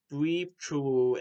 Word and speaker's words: Bleibtreu: So, this is a visually and conceptually impressive film that is about two-bit villain criminal Manny, portrayed by Maurice Bleibtreu in the film, which is spelled Bleibtreu.